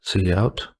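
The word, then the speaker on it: cout: operators in here so this console output is pronounced C out so it's an object that has a member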